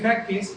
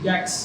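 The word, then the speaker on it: Jacques: Ah, Calvino tuvo un hijo llamado Ah, bueno, es que se escribe Jackes, pero se dice Jack. Okay. Jack, se escribe hackers. Acuérdense que los nombres en en francés ahí. Él nació en julio de 1542, pero no sobrevivió.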